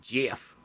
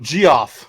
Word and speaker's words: Geoff: It's Jeff. It's the same guy that hosts the Game Awards. Yeah, I guess no Jeff. That's all I got. Oh. I always call him Geoff. Yeah, that's how it's spelled.